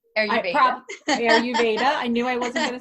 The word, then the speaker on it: Ayurveda: Ayurveda.